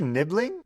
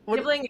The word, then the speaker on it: nibling: Ah rhyming with sibling people have created nibbling and it starts with end.